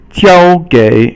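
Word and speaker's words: 交给: 交 first tone, 给 third tone, so it becomes a verb.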